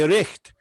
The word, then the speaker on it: richt: In Scotland, you say richt, a moonlicht nicht to nicht, right?